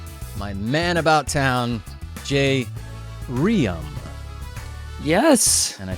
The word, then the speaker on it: Jay Reum: and my sidekick my man and about town J Ram yes and I said it correctly well done